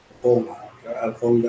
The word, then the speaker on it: Alconga: Alconga ang pronunciation.